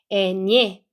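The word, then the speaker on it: eñe: 여기 에네에다가 물결 표시 위에 있으면 얘는 스페인어에만 있는 글자입니다. 그래서 에녜, 에녜라고 읽는 거죠. 그래서 녜, 녜. 얘는 네였고 얘는 녜. 이 발음이 들어와서 녜. 그래서 에 강세 주시고 에녜라고 하시면 돼요.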